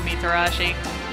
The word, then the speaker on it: Mitarashi: right into the hole mitarashi it's fine oh wow they actually pronounce the T in your name is something I don't do ever a katana excellent can